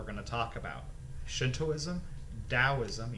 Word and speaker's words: Daoism: to talk about Shintoism Daoism you pronounce that t as a d and Confucianism starting with